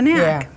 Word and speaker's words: knack: Yeah, that's a knack. Yeah. So that's strange because it has that silent K at the beginning of the word. You probably read it without even knowing it was silent, huh?